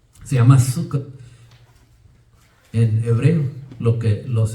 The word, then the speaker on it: Sukkot: Se llama Sukkot en hebreo. Lo que los hermanos están terminando estos 7 a 8 días que celebran ellos esta fiesta. Sukkot. Así es como lo pronuncian ellos en hebreo.